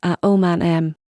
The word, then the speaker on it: Aomame: for green peas and pronounced with the same four syllables at om man M she had never been